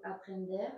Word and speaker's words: aprender: Quiso aprender. Alors attention, quiso aprender. Attention à la prononciation de aprender. Aprender.